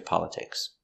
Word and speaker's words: politics: No, I don't pay attention to politics. I think politics are boring. Pronunciation of politics. A, pa, l, pal, pala, t, polit, I, politi, k, politic, s, politics, politics, politics, politics.